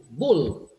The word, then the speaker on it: bull: And as Diego has just pointed out, the vowel, the preceding vowel being shorter, there is more sound for the L left.